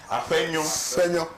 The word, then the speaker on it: Afenyo: Afenyo. You like you're blowing out a candle. Afenyo. Afenyo. Okay. Like as in PFH mixed. Okay. Yeah. Afenyo. Like a flower.